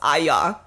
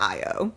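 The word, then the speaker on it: Ayo: I just want to let y'all know that the lovely lady that plays Sydney, her name is pronounced Aya and not Io.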